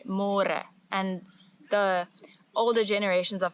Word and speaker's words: môre: It's a little bit easier, but you have to remember to read môre because in English it's spelled like more. So don't say more, say môre.